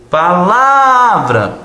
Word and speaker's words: palavra: pronto matou ah palavra Qual que é a sílaba tônica de palavra ah palavra é o nome da sua amiga você tem que chamar ela novamente palavra Olha o la entendeu bom legal eh